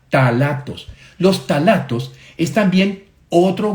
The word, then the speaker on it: ftalatos: Y quiero ahora hablarles de otro grupo de sustancias que se llaman los ftalatos. Se escribe con P-H-T, P-H-T-A, talatos.